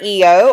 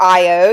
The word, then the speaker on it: Io: The story of Jupiter and Io, or Io, you'll hear it pronounced both ways.